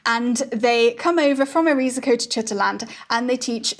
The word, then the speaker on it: Erizeco: This island is called Erizyco, or if we use the old spelling, it's spelled like this, but also pronounced Erizyco.